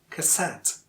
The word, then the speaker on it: cassette: And look at cassette. Again, the second syllable is stressed, cassette.